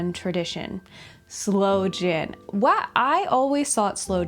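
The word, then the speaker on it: sloe gin: look up for myself why slow jin is spelled that way and why it's not sin. Oh, okay. So the blackthorn fruit is called slow s l o e. So it is slow jin as in blackthorn fruit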